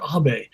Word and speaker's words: Abe: In America, we pronounce it Abe, but it's pronounced Abe.